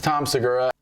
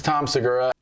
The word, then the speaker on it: Tom Segura: I'm like, I think he's saying Tom Segura's name wrong. And then I'm like, well, maybe I'm saying it wrong. So I went and pulled a clip of comedian Tom Segura saying his name.